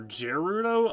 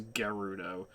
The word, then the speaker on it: Gerudo: But Gerudo, I used to pronounce the G with a J sound for Gerudo until literally Breath of the Wild, when I actually heard it pronounced as Gerudo.